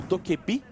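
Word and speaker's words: Dokkaebi: Thatcher, Abreu de Termite, o mítico Madokebe, ou Dokebi, que é a pronúncia correta aí, já...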